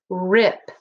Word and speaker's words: rip: How do we know this is a closed syllable word? Yep, one vowel and a letter or a consonant that follows it, closing it in. So the vowel will say it short sound.